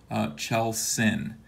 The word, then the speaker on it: Kjellsinn: His arms and his legs, they represent kind of like a communication link to Chel Sin, which is the spacecraft that brought him to Earth. It's spelled KJELLSINN.